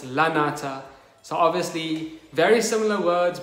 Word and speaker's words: lanata: are two different Drosera lunatas, because I thought it was a tuberous Drosera. Okay guys, my bad, I just pronounced the word wrong. It's not lunata, it's lanata.